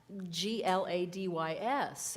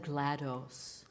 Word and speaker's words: GLaDOS: And then I was like, what GLaDYS? And then I saw GLaDOS, and I've always said GLaDOS. Because then that's what I'll say. DOS, the operating system, DOS, okay.